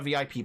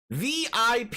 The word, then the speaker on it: VIP: He pronounces the acronym as a word rhyming with zip. VIP, you say.